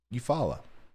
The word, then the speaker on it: Eufaula: Am I still saying it wrong? No, that's right. Eufaula.